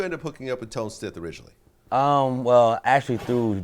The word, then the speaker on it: Tone Stith: So, first of all, you got a new artist, uh, Tone Stith. Mhm. Am I pronouncing it right? Yes. Tone Steth.